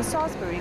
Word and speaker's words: Salisbury: 誤嚟噶，因為英文 Salisbury 個 I 咧係唔發音，所以譯翻中文應該叫做梳士巴利道先啱。